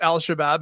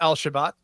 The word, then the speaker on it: Al-Shabaab: By the way, did you notice he mispronounced Al-Shabaab as Al-Shabaat?